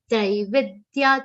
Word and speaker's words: त्रैविद्य: Traividya. Trai will be a long sound. Here one common mistake. Traividya. Trai nahi. Traividya. Trai will be long.